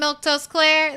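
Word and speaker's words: Milquetoast Claire: I'm Milktose Claire. That's how you say my name.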